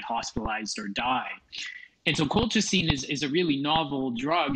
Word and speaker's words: colchicine: And how do you pronounce it? Yeah, colchicine.